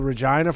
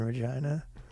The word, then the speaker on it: Regina: you should come in Regina foreign I mean they're in a tough spot because it's all flat with many residents we are committed to involving more diverse stakeholder groups City that rhymes with vagina okay Regina player on